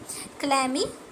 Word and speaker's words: Chlamydomonas: Okay then we have this Chlamydomonas, we have this clamy, okay C एच चलैमी नहीं बोलते हैं उसको, clammy बोलते हैं, जो ए सी होता है साइलेंट होता है, क्लैमीडोमोनास, डोमोनास।